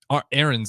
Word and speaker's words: Arns: But this is Arns. Is that how you say it in American? Aaron's if you're going to go the American, but Arns is the proper way to say it.